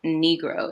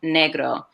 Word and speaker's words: negro: with that word so it's not negro it's negro so i definitely would make sure they understand the pronunciation that it negro is not the same as negro and then it's also not the n word but i also have